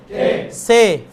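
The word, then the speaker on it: ث: আচ্ছা এইটা যখন আমরা ইয়া বলি মানে আরবিতে বলি তখন আমরা বলি সা সা, এভাবে বলি, কেমন, মানে জিহ্বার মাথাটা কিসে উপরে দাঁতের সাথে লাগে, সা, এভাবে উচ্চারণ করে, তাই না। এখানে এত তাল করার দরকার নাই, শুধু সে, ফার্সিতেও উর্দুতেও সেম উচ্চারণ, সে কি, এটা একদম সে, এভাবে বলার দরকার নাই। বিষয়টা বুঝতে সে স্বাভাবিক উচ্চারণ হবে, কি উচ্চারণ হবে সে।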